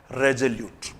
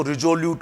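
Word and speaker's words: resolute: अगला शब्द आपके सामने है रेजोल्यूट। बहुत ही अच्छा मीनिंग है। पहले प्रोनाउंसिएशन पे ध्यान दीजिए, इट्स प्रोनाउंसिएशन इज रेजोल्यूट। कुछ विद्यार्थी इसको रिजोल्यूट बोलते हैं, इट्स नॉट रिजोल्यूट, इट इज रेजोल्यूट।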